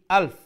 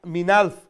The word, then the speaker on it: ألف: পর আলফি যে এই আলফ হামজাটাকে আরো একটু শক্ত করে স্পষ্ট করে উচ্চারণ করবে মিন মিনালফ এইরকম বলবেন না মিন আলফি আলফি এই হামজাটাকে আরো একটু শক্ত করে উচ্চারণ করতে হবে ঠিক আছে খায়রুম মিন